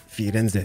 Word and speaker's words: Firenze: Firenze, doesn't matter, you know, you should kind of pronounce the Z. I think it's gonna be Firenze, si.